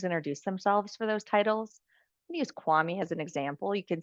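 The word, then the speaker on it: Kwame: Usewami as an example. You can see I searched by author this time and I'm going to do the name pronunciation bywami Alexander. Hi, my name isWami Alexander.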